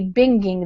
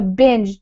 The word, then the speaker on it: binge: But that would be binging then, and that's not a word. So binge, to make it stay with that soft G sound, we need to keep the E there.